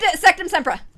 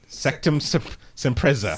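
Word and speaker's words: Sectumsempra: Ivy What is said- Sectum Sempra? That is correct. Oh, Yes! I That would is pronounce correct. it wrong. Damn. Sectum Sempreza.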